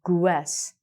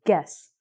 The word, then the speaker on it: guess: I don't say guess. I say guess.